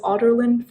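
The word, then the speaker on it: Adarlan: And of course, Celaena was an assassin known in the entire kingdom of Otterland. It's written as Aderland, but it's pronounced as Otterland for some reason.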